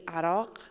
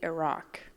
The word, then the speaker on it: Iraq: Iraq is actually Iraq, but you can say Iraq.